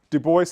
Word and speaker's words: Du Bois: Du Bois, someone who, a lot of you may see Du Bois, you see the name, it's Du Bois, that's the way his family pronounced it.